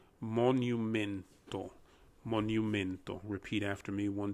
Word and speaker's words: monumento: that word down more very similar to mo like mowing your lawn and that's the mo the nu is pronounced exactly like the word new in english the n-e-w as in i bought a new pair of shoes men is pronounced exactly as you would in english as well and then finally the to instead of two becomes monumento monumento repeat after